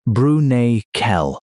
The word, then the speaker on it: Bruniquel: Go into a cave in southwestern France called Bruniquel, pronounced Broo-nee-kel.